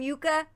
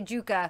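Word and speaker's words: Jukka: love that in that how do you say his name yuka yes i keep wanting to say juka but yuka i loved how he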